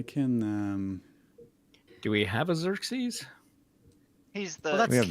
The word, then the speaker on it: Xerxes: Do we have a Xerxes? He's the. Well, We have that's Xerxes. Mr. Nezer. Yeah, Oh, it's this not is the right Xerxes. Xerxes. It's Xerxes.